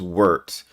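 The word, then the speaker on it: Wirt: Not wart like a like toad warts. It's wort. Like yogurt.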